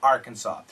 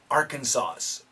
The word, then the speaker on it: Arkansas: Rock Little Rock Arkansas this s is silent Aransas actually some people do say Aransas but 98.74% say Arkansas some people say Arkansas's that's wrong Arkansas okay